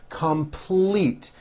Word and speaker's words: complete: me every day complete this has a strong l in the second syllable complete we will complete our